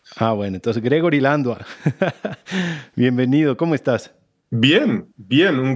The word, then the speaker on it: Landua: Yo siempre te he dicho Landua, pero últimamente escucho que se pronuncia Landuey. Sí, pero los nombres en español hay que pronunciarlo en español nomás. Ah, bueno, entonces Gregory Landua.